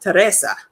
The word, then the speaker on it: Teresa: He was like, "Well, actually, it's pronounced Teresa." Because while she looked like an average Black woman, very, very much like me, her grandmother was Spanish, and her grandmother is who named her.